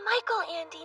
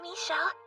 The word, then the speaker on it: Michael Andy: sound good first off it's Michael Andy not Melle you really haven't read